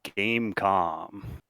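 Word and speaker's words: Game.com: No three two one what is the game comm you do not pronounce the dot I'm glad it hyperlinked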